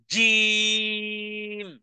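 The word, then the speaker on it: ج: জিম উচ্চারণ করলাম কিভাবে জিহ্বার মধ্যখান তার বরাবর উপরে এর তালুর সাথে লাগিয়ে আওয়াজকে কঠিন থেকে কঠিন করে উচ্চারণে ধাক্কা দিয়ে বলতে হবে জিম জিম জিম জিম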